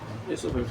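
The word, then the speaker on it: oesophagus: grass English में इससोफेगसोफेगस इससोफेगस ठीक है ओस लिखा है ए इससोफेगस ओ साइलेंट है ठीक है मेसोफेस भी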